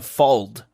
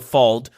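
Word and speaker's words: fauld: And this piece of armor is called a fold. Are you familiar? Uh, how do you spell it?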